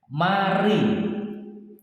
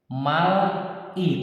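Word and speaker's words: 말이: Contoh, mari artinya berbicara. Mal-i tulisannya teman-teman ya, mal-i, tapi dibaca mari, tulisannya tetap mal-i, dibaca mari. Kenapa? Karena ini L atau R ini ketemu I, dibaca mari.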